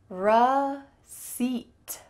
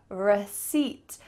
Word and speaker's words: receipt: And the P is completely silent.